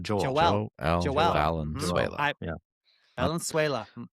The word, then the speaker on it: Valenzuela: But it's Valenzuela. Valentine and Venezuela together. Oh, we didn't make that clear either when we started. It's Joel, not Joel. Joel. Valenzuela.